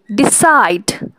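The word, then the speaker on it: decide: যেমন relax, ডিসাইড, begin. দেখো, তুমি যদি রিল্যাক্স বলো প্রথমে রিটা অনেক রিল্যাক্সে উচ্চারণ হচ্ছে, অর্থাৎ এখানে তেমন একটা চাপ পড়ছে না।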